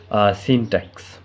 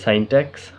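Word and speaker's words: syntax: অর্থাৎ হচ্ছে তারপর 3 নম্বর হচ্ছে সিনট্যাক্স বা কেউ বলে সাইনট্যাক্স, আপনি যেটা উচ্চারণ করবেন সেটাই।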